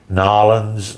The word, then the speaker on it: New Orleans: sea level In New Orleans. in oak barrels in New Orleans, N'awlins, New Orleans, New Orleans. Where it depends on where you're at on how you say it.